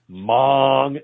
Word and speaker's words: Hmong: is among the okay a mom yeah like there's people in southeast asia yes mong hmong mong they make good sausage